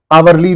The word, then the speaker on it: hourly: In this also H is silent. Silent means it is dead. And how are we pronouncing this word? We are pronouncing the word from O. O is giving a vowel sound here.